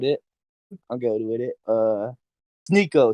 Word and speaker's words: Sneako: Sneako, Sneakio, whatever.